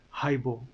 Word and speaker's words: haibo: you come across so the word is hypo try saying that hybo that's how it's pronounced the word is hypo